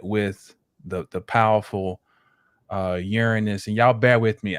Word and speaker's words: Uranus: the the powerful uh Uranus and y'all bear with me I normally pronounce it as oranos but that's the traditional I'm I'm gonna go